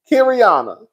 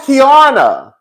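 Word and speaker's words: Keiarna: How do you say that girl's like Kiriana? Kiriana. Okay, Kiriana. Kiarna. Oh, it's Kiarna. It's Kiarna. That's what it is.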